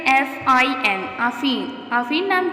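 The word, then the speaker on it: Aafin: आफीन के स्पेलिंग है double A एफ आई एन आफीन।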